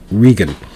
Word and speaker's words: Reagan: pronounced it's pronounced here pronounced by he and his family is reagan ronald reagan in ireland the name would have been pronounced differently his ancestors would have pronounced their last name regan or o'regan now barack obama visited